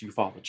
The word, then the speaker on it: ufology: It sounds funny, but it's pronounced ufology.